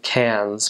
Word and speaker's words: Cairns: think above that was how they say cans but it's spelled CA i r and s so it looks like Cairns um at any rate